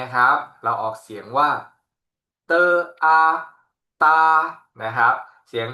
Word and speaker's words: d: ครับ อีก 4 ตัว ดี นะ ครับ เรา ออก เสียง เป็น เตอ นะ ครับ เป็น เสียง ต เต่า นะ ครับ เตอ ส่วน ตัว t ครับ